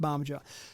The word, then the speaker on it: Bamaga: I think it's pronounced Barmager.